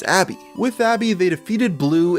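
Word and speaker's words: ABBBBBBK(: nicknamed it abbb bbbk which fans later decided to pronounce as Abby with Abby they defeated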